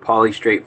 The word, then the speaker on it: polystrate: Sean, hey, Sean, they were called polystrate fossils, bro. Like, seriously, it's spelled exactly what it sounds like. It's poly, P-O-L-Y, straight, and then fossils.